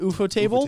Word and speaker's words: Ufotable: So A is, how do you pronounce it? Ufotable.